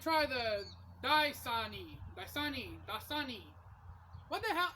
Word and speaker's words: Dasani: i'm going to try the daisani by sunny dasani what the hell how the hell do you even pronounce this brand name it's d-a-s-a-n-i dasani but